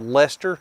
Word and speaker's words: Leicester: So, whenever you live in a state that has a town called Leicester, that's spelled Leichtetster or something like that, you kind of guess at the names, and sometimes you get lucky.